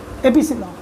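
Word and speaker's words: epsilon: कहते हैं क्या, एप्सिलॉन, एपिसिलॉन यानी एप्सिलॉन। प्रोनाउंसिएशन पता होना चाहिए, एप्सिलॉन।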